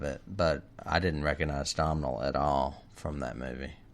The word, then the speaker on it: Domhnall: Say his name again. Domhnall, not Denholm. It's Domhnall.